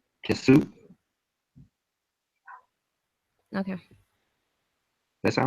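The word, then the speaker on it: qsw: and it is pronounced Kisu.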